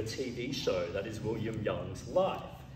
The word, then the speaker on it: Yang: I try I try it's young for people uh although since everyone thinks it's Yang um I it's like